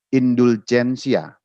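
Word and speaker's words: indulgentia: Jadi huruf G itu dibacanya J, jadi dibacanya indulgensia. Itu kalau kata benda.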